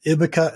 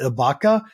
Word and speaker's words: Ibbaka: today around hybrid pricing we have a hybrid name you can pronounce it in two different ways as long as you